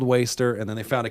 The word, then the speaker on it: WSTR: somewhere someone said oh I think it's pronounced like Worcester but it's not it's actually waster it's waste and so